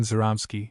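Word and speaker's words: Żeromski: Two sketches by Stefan Zeramsky. One for no one. The accent on the Z softens the sound approximately to that of the French G in Gelli.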